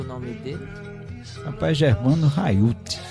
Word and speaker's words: Haiut: Rapaz, Germano Raiuti. É a pronúncia, eu não sei se tá certo. Certíssimo. Não sei se tá e certo. Aí, é H aspirado.